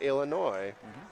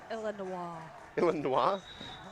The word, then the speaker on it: Illinois: City Rollers from Chicago Illinois because only idiots pronounce the s oops you're going to say oh pronounce it Illinois they're the team Illinois shirt like has the